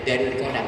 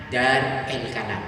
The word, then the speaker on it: Darul Qalam: Tidak bacanya tidak Darul Qalam, tapi bacanya Dar El Kalam.